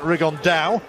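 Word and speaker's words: Rigondeaux: or as he's correctly pronounced with the uh spanish accent rig on dao and look two absolute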